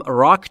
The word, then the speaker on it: rock: وقتی که میخواید R رو در انگلیسی کلن تلفظ بکنید زبونتون جمع میشه نزدیک به سقف دهان.